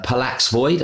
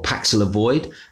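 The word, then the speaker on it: Paxlovid: drug which is called uh pallax void i think that's how you pronounce it or paxila void uh which is basically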